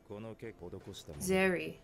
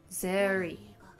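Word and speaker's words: Serie: Zeri. They really like to pronounce the S's as like Z's. Zeri. Not all the time, but some of the names.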